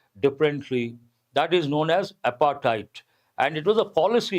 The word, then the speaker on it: apartheid: Back in 1991, when South Africa was readmitted to cricket following the withdrawal of apartheid. How do you pronounce this? Apartheid. T sound, not D sound.